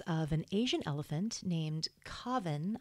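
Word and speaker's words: Kaavan: This was around the case of an Asian elephant named Kavan, I believe is how you pronounce it. It's K-A-A-V-A-N.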